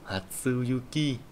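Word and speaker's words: 初雪: Ở đây chúng ta có từ Hatsuyuki. Thì từ Hatsu này ấy, nó chính là cái thằng sơ nhá. Sơ thì bây giờ nó không đọc là Hajime nữa, bây giờ nó đọc là Hatsu.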